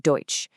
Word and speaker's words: deutsch: Then you have eu and au both make an oi sound like in the word deutsch. And a really fun one